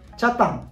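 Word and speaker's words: 北谷: 沖縄では谷と書いたらタンと読みます。チャタン、ヨミタ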